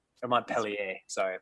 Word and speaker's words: Montpelier: it means happy mountain capital of Vermont is Montpellier there Montpelier sorry I pronounced incorrectly well wonderful well I I think